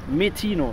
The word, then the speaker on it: Metino: Mit dem Metino, ist richtig, ne? Metino, richtig. Genau, richtig ausgesprochen.